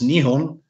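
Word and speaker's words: 日本: so japan as we say in japanese it's nihon and this is a flag of japan and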